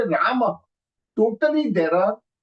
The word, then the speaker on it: Rama: Ram is not Sanskrit. Rama is Sanskrit. When we say Rama, totally there are 5 alphabets that we have used.